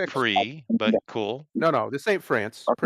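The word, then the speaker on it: Prix: in Texas for Modo Grand Pricks that would pronounce pre but cool no no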